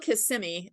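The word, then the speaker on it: Kissimmee: the 13th and it's in how do you pronounce the city K kismi it's it's called KMI it's part of Orlando it's kind of it's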